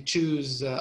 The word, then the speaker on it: choose: it's a verb you choose things you choose ice cream you choose coffee you choose food right and the pronunciation the beginning is different shoes choose you see